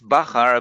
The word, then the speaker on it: Bachar: yes it's bachar actually it's it's bakar but you know it's